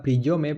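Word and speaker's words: приём: se define con una palabra rusa escrita priyome, pronunciada priyom, y que lo que viene a significar es algo así como patrón.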